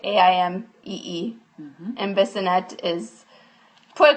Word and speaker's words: Aimee: Aimee is spelled like the French way, Aimee.